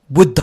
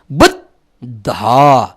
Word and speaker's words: बुद्ध: तपाईँले गर्नुपर्छ के भने ब को बु लेख्नुहुन्छ, द लानुहुन्छ, दैलो द भनेर हामीले पढे जस्तो द लानुहुन्छ र दलाई खुट्टा काट्नुहुन्छ अनि ध लेख्नुहुन्छ। बुद्ध दलाई तपाईँले आधा उच्चारण गर्नु पर्यो।